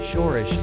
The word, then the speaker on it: Soros: George Soros was born on August 12, 1930 in Budapest, capital of Hungary, with the name George Soros, pronounced Soros, on his birth certificate.